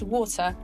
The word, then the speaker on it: water: uk english it's pronounced water and not water like in the us this first syllable is stressed and so the second syllable becomes weak just like a schwa if the suffix graphi